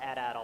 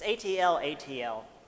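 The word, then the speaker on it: atlatl: adult I think or I just call it at idle I don't I for some reason my brain it's ATL ATL yeah for some reason my brain makes that first L Sil silent is that like throwing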